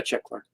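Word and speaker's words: Czechvar: Is it, how do you pronounce it? Is it Czech Var? Yeah, Czech Var.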